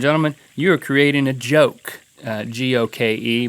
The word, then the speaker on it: goke: - Then you throw the ginger on there, and ladies and gentlemen, you are creating a goke. G-O-K-E, but it's pronounced with a juh.